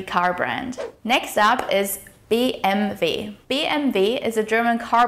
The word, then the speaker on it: BMW: In order to pronounce it correctly, you need to pronounce each letter in German individually. So the correct pronunciation is BMW. BMW.